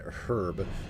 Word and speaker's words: herb: But other than that, yeah, anytime I hear someone from the UK pronounce the H and herb, it all uh it always to me sounds overunciated.